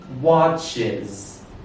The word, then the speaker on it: watches: The third pronunciation is. Is. The example is the word watches. Watches.